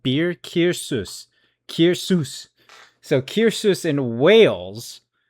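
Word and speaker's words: Caersws: So, it's pronounced Kir Kir. So, like beer Kirus.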